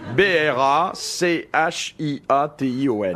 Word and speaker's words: brachiation: Non, alors je vais vous dire comment ça s'écrit, parce que peut-être que ça éveillera en vous des Mimez-le. souvenirs mythologiques. B-R-A-C-H-I-A-T-I-O-N.